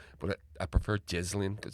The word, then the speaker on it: Ghislaine: I'll keep calling her Ghislaine because that's apparently the way you pronounce it. But I prefer Ghislaine because it's a bit more suitable.